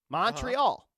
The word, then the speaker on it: Montreal: Did you notice like we say it like with an a Montreal? Montreal. They say Montreal.